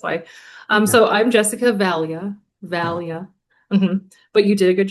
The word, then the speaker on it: Vallia: It's Cris Duncan with Texas School, and I'm here with one of our fabulous instructors, Jessica Vallia.